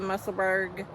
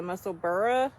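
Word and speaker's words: Musselburgh: for a hat well everybody used to call it the musselberg but then everybody found out that's how they or that's not how you're supposed to pronounce it that's really the muscle burrow um I don't know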